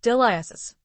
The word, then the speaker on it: Dilys: She knew nothing about her mother's kin, except for her dead great-aunt, who had been Miss Dilys Bevan, pronounced Dilias, according to her mother.